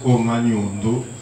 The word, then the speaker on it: Omanyondo: On prononce Omanyondo si on parle de Omanyondo.